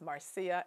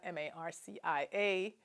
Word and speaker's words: Marcia: is spelled k-e-i-z-s and the first name is marcia m-a-r-c-i-a not marcia as i'm sometimes called i chose to leave